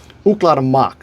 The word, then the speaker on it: Ooklah the Moc: One of my favorite groups ever, Cla Mach. So to spell that is O K uh L A H the T H E and Mach M O C.